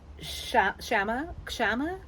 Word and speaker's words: Kshama: Now, when people say her name, they don't pronounce the K. Like, it's like silent K, like knife. But when I looked at Wikipedia, it did pronounce the K, so I don't know which way to say this right. So, Kshama. So, Kshama is how Wiki says we say it, but like news anchors